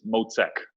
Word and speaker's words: Mocek: So before we get started, the most pressing question, how do you pronounce your last name? It's Mocek.